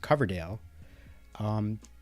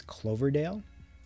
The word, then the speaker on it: Coverdale: I know sometimes, like when people pronounce my last name, which is Coverdale, for some reason they add an L, so they pronounce it as Cloverdale, and I can understand